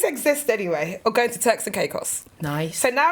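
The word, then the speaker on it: Turks and Caicos: So now know now that I've just learned how to pronounce that because I knew I was going to say it cuz I thought it was texting cuckoo.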